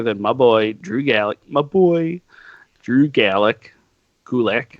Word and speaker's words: Gulak: Gulak. Oh yeah. It rhymes with attack.